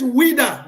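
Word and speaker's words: Ouidah: It's Wida. The European cartographer couldn't pronounce Wida, and he wrote Judah.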